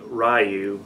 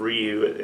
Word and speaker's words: Ryu: 2009 there's no excuse for him to say Ryu yeah instead of Ryu at the end of that movie but it